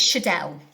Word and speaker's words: Schaedel: I hope I pronounced your surname okay. I didn't check that beforehand. That's fine. Yeah, it's Schaedel.